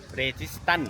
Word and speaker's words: Registan: Registan is pronounced "Registan."